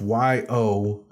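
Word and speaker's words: Yosohn: So it's pronounced Yoshon. So SOHN, like John. So it's like Yo John, but instead of Yo John, it's Yoson.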